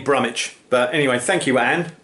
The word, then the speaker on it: Brumwich: I think it's Brummich. It's B-R-U-M-W-I-C-H, so it could be Brumwich. But I was thinking, place names like Bromwich, West Bromwich, Norwich, you don't pronounce the W. So it's probably Brummich.